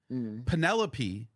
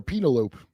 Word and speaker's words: Penelope: In in Homer's Odyssey, Penelope is Odysius's wife. That's how you say it. I call it pen I've been calling her penaloop.